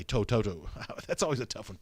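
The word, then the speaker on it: To'oto'o: Grace asking about Henry Toto, or I should say Toto.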